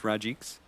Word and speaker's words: Rajix: that his name is Rajix? That's just how I've always pronounced it. Effie I've always called it Rajix, and Effie said that that's right. She said that's how you pronounce it.